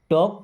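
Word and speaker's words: talk: टॉक टू मी। देखिए यहां पर एल साइलेंट है। क्या पढ़ते हैं? टॉक।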